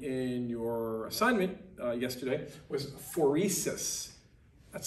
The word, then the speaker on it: phoresis: that you defined in your assignment yesterday, was phoresis. That's how you pronounce it.